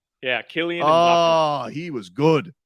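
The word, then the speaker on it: Mbappé: Yeah, Kylian Mbappe.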